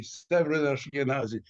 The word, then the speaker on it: Severyn Ashkenazy: And is it Severyn Ashkenazy? Am I saying your name right? You're pronouncing it perfectly. Severyn Ashkenazy.